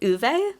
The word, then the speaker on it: Ove: called I believe in the audio book they pronounced it uve so I read that